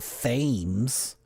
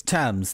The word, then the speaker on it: Thames: It's not Thames. Is it Tom's? Tams? It is first soaked for 4 days in dark side chocolate stout from Woodstock's Upper Thames. It's Thames.